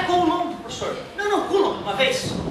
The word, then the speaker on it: Coulomb: Mais quando eu estiver falando de I menos, é 1,6 vezes 10 na menos 19 Coulomb. Esse Czinho, ó, é para homenagear um grande gênio da eletrostática. Coulomb. Não é Coulomb, professor.